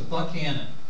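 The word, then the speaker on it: Buchanan: p Canon okay his his name apparently at the time was pronounced a buckhanan so that should be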